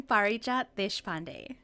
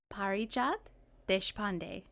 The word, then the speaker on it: Parijat Deshpande: I'm Parijat Deshpande. Wow, say that one more time just for fun. Sure. Parijat Deshpande, just as it's spelled.